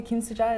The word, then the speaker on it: Kimsooja: sure he calls great it's just just one name altogether great you know Susan and Korean and when I spell it American Westerners remember my name quite easy because of Susan yes or Susie it's just it's just missing